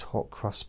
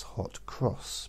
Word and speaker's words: hot cross: and I had these hot crust buns and I call them hot crust buns because that's not the correct way to say it it's hot cross because they got crosses